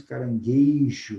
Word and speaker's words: caranguejo: disso às vezes nós falamos Caranguejo não é apenas correto a palavra caranguejo e não caranguejo Poxa quem é que